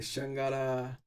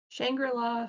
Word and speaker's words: Shangri-La: The Shangara Frontier. Did I say that right, or is there some weird way how to say it? That's how I'd say it. Shangri-La? Shangri-La Frontier.